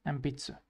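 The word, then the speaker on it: えんぴつ: Yes, ambitsu. Ambitsu. Because of the P, it's gonna be an M in pronunciations.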